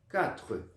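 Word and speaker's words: quatre: Então, sempre que você vir aí, QU no francês, som de K. Beleza? 4.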